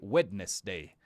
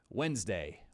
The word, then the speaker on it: Wednesday: We don't pronounce We don't say witness day, okay? We actually say something like this. Wednesday.